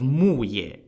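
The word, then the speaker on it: Muye: Joel defeated the Shang at the Battle of muayir spelled m-u-y-e and that brought the downfall of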